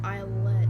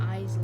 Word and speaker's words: islet: Yeah, I just realized it's islet, not islet. I pronounced it wrong for like a whole year.